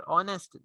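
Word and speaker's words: honest: It will be notice that the words और ऑनेस्ट ire begin with a vowel sound as the initial consonant h is not pronounced.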